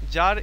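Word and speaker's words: tsar: what is যার যার হচ্ছে এখানে এখানে এটার উচ্চারণ কিন্তু যার হ্যাঁ যার ইজ the title of দা এম্পার of Russia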